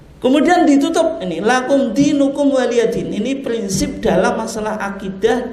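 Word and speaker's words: وَلِيَ دِينِ: Itu bacanya waliyadin ya, bukan walyadin ya. Karena banyak orang baca apa? Walyadin itu.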